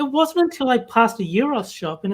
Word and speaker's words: gyros: pronounced them right too i think euros is the proper way if you look at